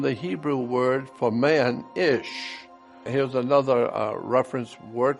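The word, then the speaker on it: אִישׁ: ISA comes from the Hebrew word for man ish here's another uh reference work that said interesting the words for man and woman in Hebrew is identical man in Hebrew is pronounced ish and looks like this but the Bible does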